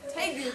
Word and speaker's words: tegu: It rhymes with ragu. The black and white Tegu, good job.